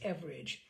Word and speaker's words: Everage: all let me say her last name is average and that average is the Australian pronunciation for average so he first created Norm